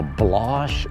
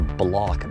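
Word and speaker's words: Bloch: Male Pouch Tobacco Company, the Blosh or the Block brothers. A lot of people pronounce it one way, other people pronounce it the other way, but I'm just gonna say the Blosh brothers.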